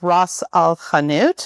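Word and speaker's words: ras el hanout: Another one is called Ross Alanut, which is this here. How do you spell that?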